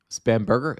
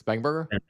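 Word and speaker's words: Spanberger: Spamburger is Spangberger.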